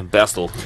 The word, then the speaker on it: Bastille: in in in Dutch it's B yeah yeah bastel I don't know so obviously um we're named after uh Dan's B which is BAS day but we say basti cuz we're English but like basti and I